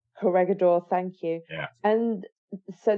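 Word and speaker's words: Corregidor: the battles of batan and and I can't pronounce the second one it begins with a c t corgador corgador thank you yeah and so they end in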